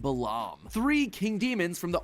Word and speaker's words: Balaam: All three of them, Bael, Pie Man, and Ba lamb, are phonetic ways of pronouncing the names Bael, Paimon, and Balaam, three king demons from the Ars Goetia.